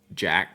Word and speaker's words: Jacques: TV that Alex uh Jack spells his name Jacques but they call him Alex Jack it drives me nuts but hey that's his name Alex Jack spelled Jacques why can't we